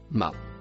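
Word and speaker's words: ما: Le mot marron se prononce ma.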